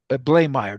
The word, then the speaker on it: Bleymaier: I don't even remember, but he's Captain Jacob Bleymaier.